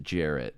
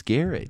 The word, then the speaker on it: Garrett: Pronounced it Jarrett. I fucking hate that so much. Hey, dumbass, your name's Garrett. You've just been mispronouncing it for the last 16 years. Dude, the funniest... No, it's Jarrett. No. The kid at our school that has Jarrett, that's Jarrett. You're Garrett.